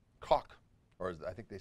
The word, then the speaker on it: Koch: Koch, or as I think they say Koch, but in German or in Dutch it would be Koch. Get a little spit in there.